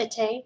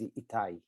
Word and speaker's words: Itai: Is it your name pronounced Ite? Ite? I wasn't sure if to ask it directly or you prefer it on like chat. Either way. Yes, so my name is Itai, yes.